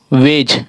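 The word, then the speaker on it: wedge: ठीक है, और अगला हमारा वेड, क्या है ये, वेग, वेज, वेज, इसमें डी हमेशा साइलेंट रहता है तो हमारा ये वेज बना।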